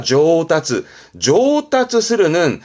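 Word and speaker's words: 上達する: 발음은 상달이니까 조따츠 스르는 상달이라 하면 우리말로는 숙달, 뭔가에 능숙해진 숙달되는 거를 조따츠 스르.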